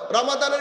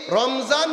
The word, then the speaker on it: রমাদান: রমাদান রমাদান বলেন তো রমাদানের ভিতরে পাঁচটা হরফ আছে কয়টা হরফ আছে পাঁচটা হরফ আছে কেউ যদি রমজান বলে তাহলে কোরআনের ওয়ার্ডটা উচ্চারণ হলো না আর কেউ যদি রমাদান